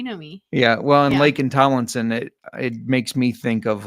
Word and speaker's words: Laken Tomlinson: Laken Tomlinson. Yeah. That's like really Tomlinson. Names. There's so many names. Okay. You know me. Yeah. Well, and Laken Tomlinson, it makes me think of like on Thor.